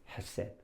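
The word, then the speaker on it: חסד: 근데 이거는 발음을 할 때 해 앞에다가 키역이 있다고 생각하시면 돼요. 키역. 우리말로. 그러니까 그냥 헤셋도가 아니고 이렇게 목구멍에서 이렇게 혀로 이렇게 목구멍에서 깊이 나오는 소리거든요. 그래서 발음할 때 앞에 키역이 있다 생각하시면 돼요. 그래서 헤셋 이렇게 하시면 됩니다.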